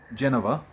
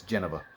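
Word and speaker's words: Jenova: It's established in 7 that Genova, or Genova, depending on how you want to want to pronounce it. I've always said Genova again, but then come remake, apparently it's Geneva.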